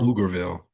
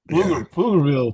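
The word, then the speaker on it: Pflugerville: Is it Flur Flugerville or Flugerville? Flugerville, Texas. I am so sorry I butchered that.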